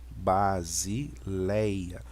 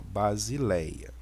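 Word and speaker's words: βασιλεία: com som de s base Léia que nós temos o lambda com som de L né Aqui nós temos o Epson e ota e o alfa base Léia e a próxima imagem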